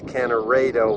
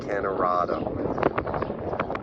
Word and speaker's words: Kanorado: Hazel the museum curator corrected my pronunciation of the Town name it's cannaredo with a long a not Canada here's the senior center